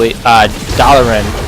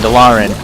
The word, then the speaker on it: Dalaran: People always pronounce the city names differently. For example, Dalaran and Dalaran.